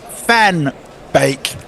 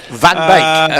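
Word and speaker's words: van Beek: I couldn't Stephen Steven Kelk says it's pronounced fanbake if it was in English. Van Bake.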